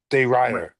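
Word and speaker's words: de Ridder: Henner, Runner de Rider is how you say Renner it.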